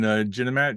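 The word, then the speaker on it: Ginemat: Ooh, and he is pronounce it for me again. Captain Ginamat, G-I-N''EMAT.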